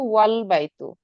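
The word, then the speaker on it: والبيت: এখানে আল বাই তু, কিন্তু এখানে হচ্ছে আমার যদি কোনো একটা শব্দই যুক্ত থাকতো, ওয়াও বা হচ্ছে যে কোনো একটা শব্দ যুক্ত থাকতো, তখন কিন্তু ওয়াল বাই তু, এই আলিফের উচ্চারণ আর তখন হতো না।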